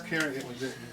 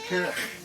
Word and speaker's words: Cairney: Yeah, it's Cairney. The ones in Ireland were Middle English spelling, C-E-A-R-N-A-I-G-H. Pronounced in the Middle English as Cairney.